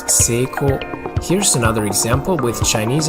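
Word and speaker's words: 成功: chinese it's pronounced chong kong in japanese it's pronounced seiko here's another example with chinese and korean the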